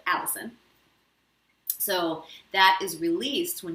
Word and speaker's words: allicin: is called allicin and it sounds like my name but it's spelled different it's a-l-l-i-c-i-n so allison so that is released